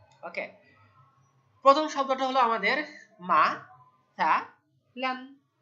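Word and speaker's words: مثلا: ওকে, প্রথম শব্দটা হলো আমাদের মা সা লান। মিম ফাতা মা, সা ফাতা সা, লাম আলিফ দুই জবর বলতে হবে, লান। মাসালান, মাসালান, মাসালান, তাহলে একটা জবর আর একটা নুন সাকিনের উচ্চারণ, মাসালান।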